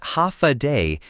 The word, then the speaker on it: Hafa adai: Hafa adai pronounced ha day.